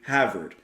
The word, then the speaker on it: Havert: to be courtesy of Glenn Havert that's how you pronounce his name there who's also handling